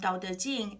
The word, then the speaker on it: Dao De Jing: For Mandarin, it's Dao De Jing, and Dao it's translated as DAO or TAO. It's just pronunciation differences, the same thing.